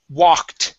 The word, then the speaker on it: walked: Now, let's go to the word walked, okay? Right up here. This is another ED ending, but because it ends with a K, that ED now changes to a T sound.